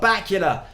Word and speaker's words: Bakula: And the message is Scott Bakula, pronounced like Dracula, and Dean Stockwell were the stars of Quantum Leap.